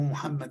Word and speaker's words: Muhammad: ¿Saben que Moisés se menciona en el Corán muchas veces más que Mahoma o Muhammad, como nosotros preferimos pronunciarlo?